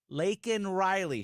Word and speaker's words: Laken Riley: Laken Riley, she says.